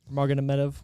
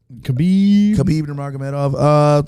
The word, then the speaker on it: Khabib Nurmagomedov: Marganamedov, how do you say it? Khabib Nurmagomedov.